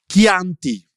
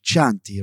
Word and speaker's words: Chianti: So, for example, Chianti, you know, c h i a n t i, Chianti like the wine. It's not Chanti, right?